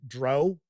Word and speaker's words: drow: we dive on in I pronounce the dark elves as Dr I know some folks out there pronounce it Dro and when people could